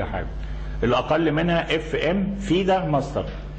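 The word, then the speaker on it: FIDE: الاقل منها اف ام فيده ماستر هي بتكتب اف اي دي اي لكن بنطق فيده النطق دايما لما اجي اقول فيده يقوم كاتبينها اف اي لا هو كده النطق بتاعها كده جا بالفرنساوي يحي بيقول امبارح عار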